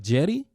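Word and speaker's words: Cedi: the name it's a it's a c so like but when you hear it on like stuff like people who get paid to say his name they say it like with a J like J like Jetty like Jetty whatever bro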